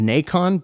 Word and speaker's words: Nacon: Next up, by developer Umio Studios and publisher Naken, which might be pronounced Nacon, but I'm going to say Naken because it's spelled like bacon, but with an N.